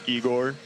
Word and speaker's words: Egor: my actual name, is Egor. Okay. Obviously, because, well, which makes sense. You know, I'm not getting offended on that. Obviously, my name's spelled like Igor, so people pronouncing it like that.